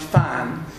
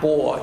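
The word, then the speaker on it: 蕃: That this character, the second character, is pronounced Fan and not Bo.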